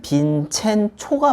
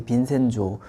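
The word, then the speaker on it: Vincenzo: 굉장히 흔한 남성의 이름인데, 정확히 이탈리아어로 발음을 하자면은 빈첸초가 맞아요. 민첸소 이렇게 발음을 하는데, 이게 영어로 발음이 돼서 그런지 빈센조 좀 약해지더라고요.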